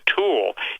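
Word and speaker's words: Thule: top secret military baser which is called the tool t-h-u-l-e base well hitler believed in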